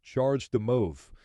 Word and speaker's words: CHAdeMO: and standards such as Chad Mo pronounced charge the move this is a Japanese phrase that in English translates as a charge for moving chadeo is the trade